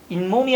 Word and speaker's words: 잇몸: 발음해보면 나 오늘 이 몸이 아파 일어나요? 잇몸이 아픈 거죠. 그러니까 발음에서 뭐가 더 생겼다? 다들 없었던 니은이 더 생기고 있는 거죠.